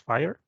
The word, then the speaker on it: FHIR: and talk about fhiir it's pronounced fire this is a presentation